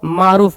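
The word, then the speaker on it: مور: से ये पूछा एग्जाम में है पहले वा मारूफ यहीं प पढ़ लेते हैं व वाव जो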